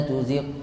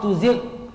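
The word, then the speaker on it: تزغ: surah alimran rbana La tuziq qulubana tuzi qulubana tuziq tuziq ini sudah masuk Q tuzigh harusnya dia g la tuzigh qulubana namun kebanyakan dari kita rbana La tuzi qulubana tuzi ini bukan gain G itu sifatnya mengalir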